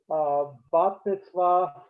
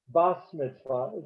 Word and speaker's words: bat mitzvah: Okay, bat mitzvah, bas mitzvah.